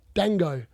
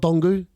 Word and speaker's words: Dango: man is that D how do you say it Dango not dongu dangu so he's only five